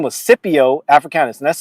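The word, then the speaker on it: Scipio: was uh Cypio Africanis, the great Roman general who defeated Hannibala and completely destroyed them uh during the Punic Wars.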